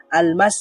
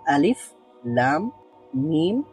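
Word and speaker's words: الم: হবে সেটা আমরা জেনেছি এগুলোকে হরফের নামগুলোই উচ্চারণ করতে হবে আল মাস বলবো না এটা আমরা আমরা বলবো আলিফ লাম মিম সদ প্রত্যেকটা হরফকে আলাদা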